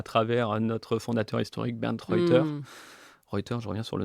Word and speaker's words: Reuter: Voilà, l'expertise qu'on a à travers notre fondateur historique, Bernd Reuter. Reuters, je reviens sur le nom, hein, c'est allemand, ça se prononce de cette manière-là, on entend souvent d'autres prononciations, donc Bernd Reuter. Réuter, Réuter, comment on dit?